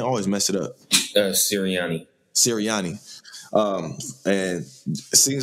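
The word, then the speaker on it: Sirianni: last name again always mess it up uh siriani siriani um and it seems like cyriani and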